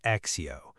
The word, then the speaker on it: ACCEO: So, we'll be talking about Accio, which is spelled a c c e o, but pronounced Accio.